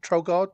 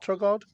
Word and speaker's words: Trossard: Was it Trogard? Trossard. Trossard. That's the one.